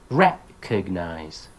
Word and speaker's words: recognize: commonly mispronounced words plus this is a great opportunity to touch upon word stress syllable not word stress here but syllable stress right exam develop recognize determine right you teach